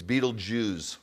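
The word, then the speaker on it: Betelgeuse: there's billions of galaxies it's Beetle Jews see even the stars are Jewish that's how to pronounce it really Beetle Jews okay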